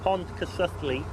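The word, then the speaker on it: Pontcysyllte: Now then, this bridge, this aqueduct, has got a very strange name that I can't pronounce, has, so yeah. I'm going to let you do it. Yeah. It's called the Pontcysyllu Aqueduct.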